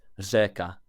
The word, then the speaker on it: řeka: river is rika, and in Czech it's řeka. I mean, even today I find it stressful just trying to say that letter, but I think so there's certain elements of Czech pronunciation that can be really hard, because there are lots of kind of řeka, that kind of sound.